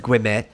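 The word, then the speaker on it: Guillemette: i know that says guimet because you're not supposed to pronounce half of the letters that are there or g-u-i-l-l-e-m-e-t-t-e you barely pronounce the t's too even though there's two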